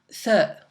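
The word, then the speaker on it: ث: mot 3, donc 3, ça se prononce TH, donc on sort un peu la langue pour prononcer cette lettre.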